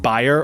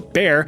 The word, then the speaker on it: Bayer: Bayer, or more commonly pronounced buyer or bear, decided to take a stab in the lab to produce something fab.